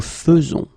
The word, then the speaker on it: faisons: will pronounce it, because you don't pronounce it E as normally you should, but you will pronounce it like E. Nous faisons. Okay, it's really fe, fe, fe. Nous faisons. Okay, you see it with E, but then you pronounce it fe.